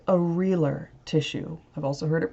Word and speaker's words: areolar: This is sometimes called areolar tissue. I've also heard it pronounced areolar. Areolar seems to be the more common pronunciation in the US, though.